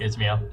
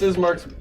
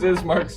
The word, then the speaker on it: Ismark: Have a good night, Ismail. It's Mark. Ismail.